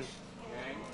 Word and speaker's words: yang: Yang. It's pronounced yang.